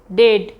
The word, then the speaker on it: debt: अगर किसी वर्ड में BT के पहले आता है तो वहाँ भी बी साइलेंट होता है। जैसे डेट, DEBT, डेट, DOUBT, डाउट, DEBTOR, डेटर।